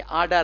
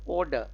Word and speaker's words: order: के, orderless, ORDER, orderless, ये इसको भी ऑर्डर कहेंगे, आर्डर, आर्डर, जो हम कोर्ट में बोलते हैं ना, कचहरी में, आर्डर, आर्डर नहीं होता, ऑर्डर, द जज ordered the